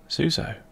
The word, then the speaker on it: Tzuso: Tzuso, pronounced Tzuso, is a companion starting pet for use in the game Caves of Qud.